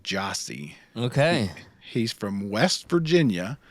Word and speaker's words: Gyasi: him and he's incredible it's g-y-a-s-i but it's pronounced Jossie okay he's from West